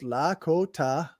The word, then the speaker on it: Lakota: The Lakota, pronounced Lakota.